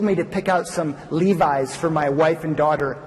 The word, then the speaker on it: Levi's: and asked me dad what are Levy's she mispronounced the name because she'd never heard of them before well Levi's brought me back a